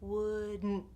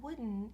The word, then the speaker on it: wouldn't: If I didn't have the T there, it would sound like wooden, like the word a wooden table, wooden. But it's not wooden, it's wouldn't.